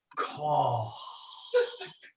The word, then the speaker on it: Koch: another german was like that's not how you pronounce it you pronounce it like call and we're like we